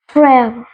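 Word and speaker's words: frère: next word पे brother जिसको कहते हैं फ्रेयर फ्रेर फेर अब मैं आपको बताती हूं इसकी स्पेलिंग एफ आर ई आ ई अब जो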